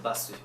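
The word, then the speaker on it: バス: Donc bus, c'est basu.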